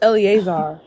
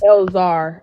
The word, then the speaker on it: Eleazar: Oh, it's Eleazar. I thought it was Elzar.